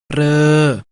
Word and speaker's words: เรอ: มา จาก ธ ธง ประสม กับ สระ เออ สะกด ว่า ธอ เออ อ่าน ว่า เธอ เรอ คำ ว่า เรอ มา จาก ร เรือ ประสม